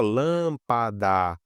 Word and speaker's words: lâmpada: Se a gente separar em sílaba aqui, ó, lâmpada, médico, a gente vê que a antepenúltima que é a mais forte.